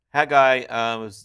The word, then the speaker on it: Haggai: Now, Haggai, his name's pronounced Haggai, and it means my feast.